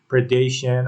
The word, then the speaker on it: predation: Again, since this is an important issue, I'll repeat that when we say predation, our stress is upon the letter D. And when we say predator, our stress is upon the letter P.